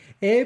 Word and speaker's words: et: I want to say Et pourtant bien proche est le temps des orages et des tristesses. E. That's how you say and in French.